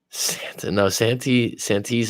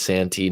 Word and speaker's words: Santee: Santee's a place. I might be saying it wrong, but I think it's Santee, not Sante.